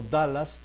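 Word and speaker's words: Dulles: Ahí estuvieron 2 horas y media aproximadamente para que posteriormente tomaran otro avión de Delta Airlines rumbo al aeropuerto Dallas que no es Dallas como no se escribe igual que la ciudad, sino se escribe D-U-L-L-E-S.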